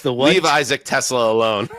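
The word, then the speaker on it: TeSlaa: I think it's Tesla, but it's spelled T-E capital S L-A-A.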